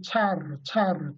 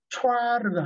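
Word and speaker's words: ĉar: 차, 왜냐하면 제가 이걸 차르르 자주 발음하는데 혹시 여러분 중에 촤르 이렇게 하시는 분이 있을까 봐 그래요. 촤르가 아닙니다.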